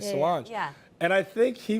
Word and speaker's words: Solange: Solange.